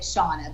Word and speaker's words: Shanna: So my mom pronounces it Shauna, but it's spelled like Shanna.